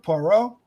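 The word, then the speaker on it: Poirot: the 1970s who plays porro in 1974's murder on the oren express i got that pronunciation down that is how you're supposed to say that name everybody it's not hercules pirate hercules parrot that's my favorite hercules parrot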